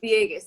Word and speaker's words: Villegas: names because since katarina villegas viegas okay cause i was gonna say it that way but then i was like if i'm saying it wrong and they're really embarrassed but no it's totally right it's a spanish last name and whenever people ask like how do i remember i'm like v yay guess that's funny that's